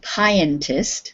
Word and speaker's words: pianist: So in the first one, the I is a long I sound. And in pianist, the I is more of a short I sound.